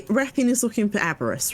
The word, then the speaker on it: Wrathion: emphasis on the w noise. So we say Wrath. Wrathion. Yeah, Wrathion.